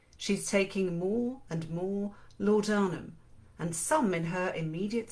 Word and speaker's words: laudanum: To ease the pain from a recent injury, she's taking more and more laudanum, and some in her immediate circle are happy to keep her well supplied.